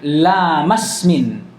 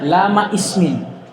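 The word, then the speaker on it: لَامِ اسْمٍ: Nah, makanya cara bacanya ini yang bagusnya lamasmin, karena dia tidak dibaca. Jangan dibaca lama ismin, la.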